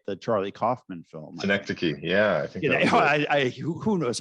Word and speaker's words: Synecdoche: Well, I met you when you were doing Synonyche, right? The Charlie Kaufman film. Synecdoche, yeah. I think who knows how to pronounce that?